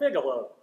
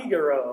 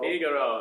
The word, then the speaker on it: Figaro: I was mispronouncing it. I was called Figalo.